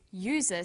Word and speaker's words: user: but a user because user sounds like it begins with a y a and an are